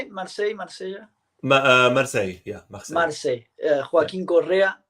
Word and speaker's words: Marseille: Marseille, yeah, Marseille.